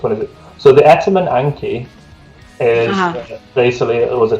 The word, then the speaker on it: Etemen Ænka: The right pronunciation will be? Etemen Ænka. Etemen Ænka.